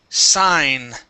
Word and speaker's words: sign: Let's go to the word sign. Okay, it's a long I sound.